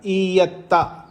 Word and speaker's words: ईयत्ता: Spelling ईयत्ता, ईयत्ता नहीं, मैं जो बोल रहा हूँ ई य आधा तकार और पूरा तकार, ईयत्ता।